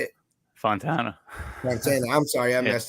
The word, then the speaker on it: Fontana: successful underdogs and today I have Mr Fontaine is that how you say it Fontana Montana I'm sorry I missed it I don't